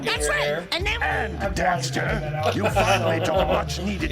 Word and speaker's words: Daxter: A lot of people like Dexter a lot more than Jak. Daxter, not Dexter.